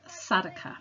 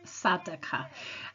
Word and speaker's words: Sadaqah: giving Zakah, Muslims can also give something called Sadaqah, and you spell that S for sugar, A-D-A-Q-A-H, Sadaqah.